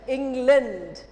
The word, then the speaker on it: England: you know 200 years they ruled us the pronounces England lend not land but lend did you understand